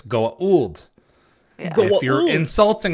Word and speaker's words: Goa'uld: So If you're correct about it, it's Goa'uld.